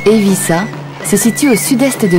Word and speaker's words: Eivissa: Sa capitale, dont le nom se prononce en catalan Eivissa, se situe au sud-est de l'île.